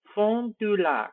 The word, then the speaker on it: Fond du Lac: According to the NAS map, this city is called Fond du Lac, Wisconsin, or, actually this is kind of French, so pronounce it in a French way. Fond du Lac.